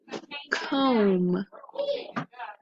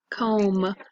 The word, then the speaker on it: comb: like in the word comb okay that b is silent and it just sounds like an m comb you also have it